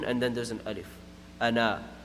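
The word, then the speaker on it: أنا: Ana, but it's pronounced ana. Anywhere in the Quran when a word comes like that just as ana, then it's going to be pronounced ana, na, ana.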